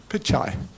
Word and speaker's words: Pichai: my left what the person's name how to pronounce the person's name. So I apologize to him in advance. The Google CEO Pichai Pichai.